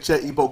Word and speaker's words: Igbo: Che, Ibu Quint. You don't even say it right. Ain't no you and Ebo Quentin.